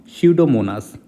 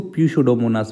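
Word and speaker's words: Pseudomonas: स्यूडोमोनास। ठीक है, कहीं कहीं पे ये साइलेंट स्यूडोमोनास भी इसको बोलते हैं और कई लोग इसको प्यूशोडोमोनास भी बोलते हैं, जो कि पी को साइलेंट इसमें नहीं करते हैं।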